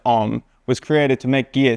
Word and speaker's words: OMM: The brand, usually pronounced OMM, was created to make gear suited to the